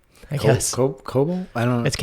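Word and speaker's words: Kobol: Lords of cobalt is how they say it.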